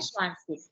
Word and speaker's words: zwanzig: ZWA, ठीक है, तो इसको पढ़ते हैं स्वांसिस ना, स्वांसिस।